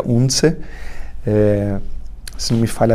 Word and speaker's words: Odense: vou me arriscar a a pronúncia em dinamarquês seria unse eh se não me